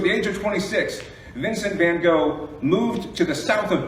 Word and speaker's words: Van Gogh: When he was 24 years old, Vincent van Gogh, or as I'm told his name is pronounced, Van Gogh.